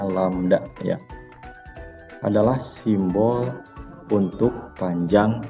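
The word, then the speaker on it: lambda: dengan huruf Yunani ini nyanyi dibacanya landak ini dibacanya lamda ya adalah simbol untuk panjang gelombang yang dimaksud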